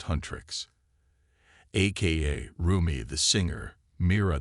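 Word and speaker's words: HUNTR/X: Fast forward to 21st century Seoul and K-pop superstars Hunter/X, pronounced Huntrix, aka Rumi the singer,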